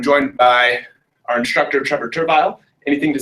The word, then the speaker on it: Turville: How you want to pronounce it. It's Turville. Cool. It's Turville.